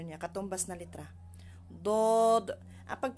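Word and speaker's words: ض: niya katumbas na letra Dod ah pag pronounce naman dito sa d makapal siya makapal Nabong siya sa heavy letter Dod ang katulad siya sa sound ng Dolphin Dolphin do do do okay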